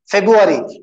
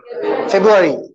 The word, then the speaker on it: February: Okay, here also R is silent. February. February. Okay. B or U mila diya. R ko drop kar dijiye. Okay. We do say February.